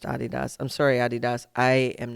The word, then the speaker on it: Adidas: It is pronounced Adidas.